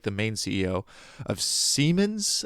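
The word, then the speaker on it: Siemens: And just recently in New York, the Spanish the Spanish CEO, not like the main CEO of Seammens, I think it's pronounced, it's German, it's not Simons, Seammens, which is okay.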